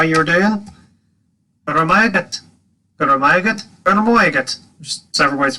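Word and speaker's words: go raibh maith agat: Guramayagat. Guramayagat. Guramayagat. There's several ways to pronounce this.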